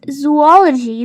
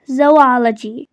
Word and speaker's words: zoology: Well, if you pronounce it as zoology, then to be honest, that is incorrect. That is a very common mispronunciation actually. So this is mainly pronounced as zoology. Zo and ology, so zoology.